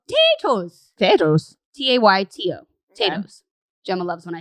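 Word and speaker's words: Tayto: irish thing and they're called potatoes potatoes t-a-y-t-o potatoes gemma loves when i say it like that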